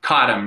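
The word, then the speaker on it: Cottam: Cottom? Cottom, yep.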